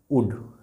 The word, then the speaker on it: would: जैसे WOULD, उल्ड नहीं बोलेंगे, उल्ड बोलेंगे तो गलत हो जाएगा, इसको बोलेंगे उड, है ना।